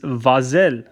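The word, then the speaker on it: վազել: the word here is vasel which i've written phonetically up here okay so it's vaz and yell which is our the ending that we're familiar with vasel that's the infinitive form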